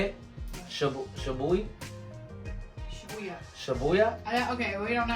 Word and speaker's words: Shibuya: I cannot pronounce that. Tokyo. How you say it? Shibuya.